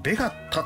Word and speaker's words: ベガルタ: こちらねえっとねイントネーションおかしかったすいませんベガッタって言うんですねあのタはね太いっていう字ねベガッタはいこんな感じで